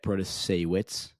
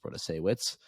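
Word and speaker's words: Protasiewicz: But most importantly, we saw one Democrat, Janet Protasewicz, I believe that's how you pronounce her last name. I very possibly butchered that, but I believe it's pronounced Protasewicz.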